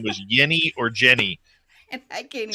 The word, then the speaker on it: Jeni: Yeni.